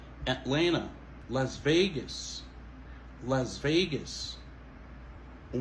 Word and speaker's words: Atlanta: Deuxième TA, il va prononcer. C'est pas Atlanta, ok? Mais c'est plutôt Atlanta, Las Vegas, Las Vegas.